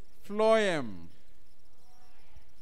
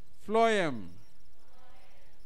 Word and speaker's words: phloem: you the video then the next one is phloem phloem right then the next one is the stoma